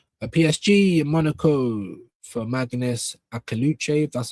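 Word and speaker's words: Maghnes Akliouche: A PSG in Monaco for Magnus Akaluchev.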